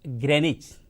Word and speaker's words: Greenwich: The spelling of Greenwich is Greenwich, but we pronounce it as Greenwich.